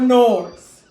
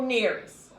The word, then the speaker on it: Nearest: But today, we're going to bring up Uncle Norris. Uncle Nearest. I'm saying his name wrong, Lord. His name is Uncle Nearest.